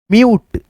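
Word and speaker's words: mute: tune उसके बाद से एम यू टी ई म्यूट क्या पढ़ेंगे आधा म यू आ ट म्यूट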